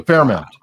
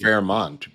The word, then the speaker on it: Fairmont: And as you can, the Fairmount in Dallas. Thank you, Cocktails. I think it's pronounced Fairmont, but okay.